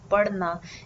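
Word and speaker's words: पढ़ना: she reads books and the pronunciation of this particular d that I'm saying here in the verb parna is the rolled D sound or you could also call it the rolled R sound so how to pronounce this just roll the tongue slightly inward okay resting on your upper pallet and roll it out so that it clicks on your teeth you know back of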